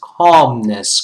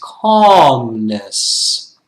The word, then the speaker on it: calmness: the pronunciation students it's calmness calmness okay so calmness we don't pronounce that l right it's a silent l it's calmness all right um because